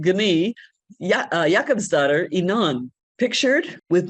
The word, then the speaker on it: Gunild: Looks like Gounild, but it's pronounced Gi.